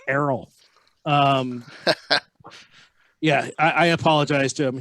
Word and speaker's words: Errol: I said Earl. Never say Earl to him. Never, ever, ever, ever say Earl to him. It's Errol.